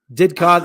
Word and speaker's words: Didcot: Didcot is pronounced as it is spelled.